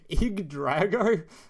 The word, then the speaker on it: Yggdrago: it's like weird looking it's pronounced IG that still sounds IG Drago God yeah this is